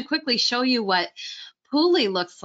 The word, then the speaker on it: pule: So PULE or PULE is a Hawaiian word. And keep in mind with Hawaiian words, there are many different pronunciations of the same Hawaiian word. And the Hawaiian language, the words themselves have many different layers and interpretations as well. So you might hear some people call it PULE, some people call it PULE. Both of these pronunciations are accepted.